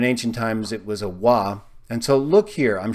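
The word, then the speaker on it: ו: shows clearly once again the difference between a bob a wah it's pronounced spoken of as evolved by many people who speak Hebrew today but in ancient times it was a wah and so look here I'm showing you a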